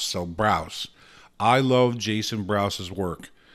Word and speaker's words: Brous: you're killing his name i think it's pronounced like house so browse i love jason brousse's